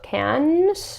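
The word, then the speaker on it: Cannes: It did win best original screenplay at the Can's how do you say that?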